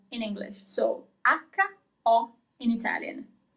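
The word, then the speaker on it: ho: So aka O in Italian. So you don't pronounce the first H.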